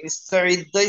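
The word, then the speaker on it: اِسْتَعِدَّ: সুকুনে সুকুনে জবর, ঠিক আছে, মাইনাস মাইনাস প্লাস যেমন হয় ও, ওরকম। তাহলে এটা কি উচ্চারণ ইস্তাইদ্দাই হবে?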